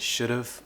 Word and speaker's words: should've: I should have so don't fall into this trap and get in the habit of making the mistake by saying I should off I could off I would off it should've would've could've you can even remove the V if you want to and just say shoulda woulda coulda this is a bit more on the informal side but you can do that as well just don't say off is a common native